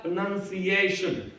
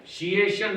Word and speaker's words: pronunciation: हमने कहा प्रोनाउंसिएशन, शिएशन नहीं है, सिएशन। हाँ, सा और श दोनों अलग है।